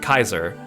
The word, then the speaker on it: Caesar: Caesar I also learned if you pronounce Caesar in the actual like Greek it sounds more like Kaiser Caesar has such an